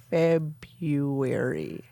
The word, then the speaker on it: February: I don't say February correctly How you say when it? I say it too. I pronounce the R after the B. February. Yes, and you're not Ooh, supposed to.